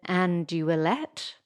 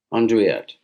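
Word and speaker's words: andouillette: me with my pronunciation is it andy willett andreyet oh that's much better andrea what's the difference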